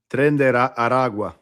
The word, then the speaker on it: Tren de Aragua: Did I fuck up the pronunciation of that? Tren de Aragua.